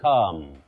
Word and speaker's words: calm: Lastly, the L in the last word is not pronounced. Don't say calm has returned to the area. Calm. No, you say calm.